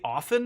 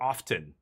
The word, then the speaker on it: often: you have to, like, do you say often or often? Do you pronounce the T? I pronounce the T because it's supposed to be, it sounds more professional, more businesslike, more, Okay, I'm going to Tidebinder this.